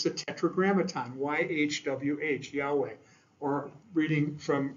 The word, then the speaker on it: Yahweh: This would be Yahweh, which we believe is the pronunciation. The name was so sacred to the Jews that we don't even really know the exact pronunciation, because they would never say it out loud. And but we believe it's Yahweh, that we believe that